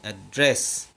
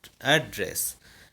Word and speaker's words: address: But if we use the word address as a noun, then we have to pronounce the second syllable with stress or with emphasis, like address.